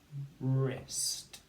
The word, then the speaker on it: wrist: what about this one the word is one syllable and it's one two three wrist your wrist okay and it's the w r spelling off i can see